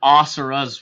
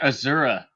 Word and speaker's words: Asura: because Scott's been playing a game that he pronounced wrong, or you just finished playing a game. Asura's Wrath. Asura's Wrath. It wasn't Asura? Were like Asura's Wrath. I was saying, I was saying Azura.